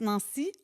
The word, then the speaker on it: Nancie: Puis pour que les gens prononcent Nancy, on va écrire N-A-N-C-I-E Ah. pour pas qu'ils mélangent avec Nancy.